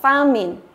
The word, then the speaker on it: famine: Chúng ta đọc là famine. Famine có nghĩa là nạn đói. Đây là danh từ nhá. Famine, nạn đói. Đó, famine. Nhớ nhá, chúng ta nhấn vào âm thứ nhất đúng không?